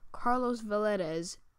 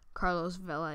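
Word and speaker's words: Carlos Valdes: from the flash um pretty sure it's pronounced carlos vela it is sorry if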